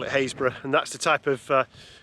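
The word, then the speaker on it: Happisburgh: rest of the world looks like it's called happysburg but locusts call it haysbrough and that's the type of pronunciation difficulties you're getting to when you're in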